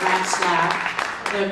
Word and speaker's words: Ratslaff: That's her real name, Ratslaff. People always ask her how to pronounce her name, and I say mice giggle and rats laugh.